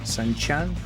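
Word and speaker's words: Sun Quan: That's how they pronounce the Q, right? Sun Chan of the Wu Kingdom.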